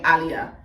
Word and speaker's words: Aliyah: Her name's Aliyah, but we're Caribbean, so you pronounce her name Aliyah.